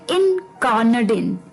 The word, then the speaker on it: incarnadine: तो अभी जो 10वां वर्ड है शाम का वो है इनकार्नाडिन। इनकार्नाडिन, जी हाँ बिल्कुल, प्रोनाउंसिएशन थोड़ी सी अटपटी है इसकी वर्ड की।